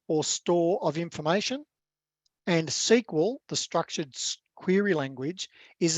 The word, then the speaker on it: SQL: Database servers, so Microsoft SQL Server, that's pronounced SQL, that stands for Structured Query Language.